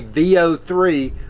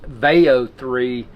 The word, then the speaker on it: Veo 3: Hey y'all, I Rick Sky here and within this video I want to provide a VO3 or it may be pronounced Veo3 stepbystep tutorial.